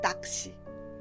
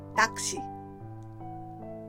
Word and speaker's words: 낚시: We write 낚시 like this, but the pronunciation is 낚시. Repeat after me. 낚시.